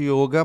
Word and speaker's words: yoga: fechado ele aí o como a grafia não tem um acento quando veio para o ocidente se viu um o aberto esse começou a pronunciar muito ele aberto e yoga Mas tradicionalmente aí o e há muito tempo atrás até começaram a mudar e colocar com i no início no Brasil usar o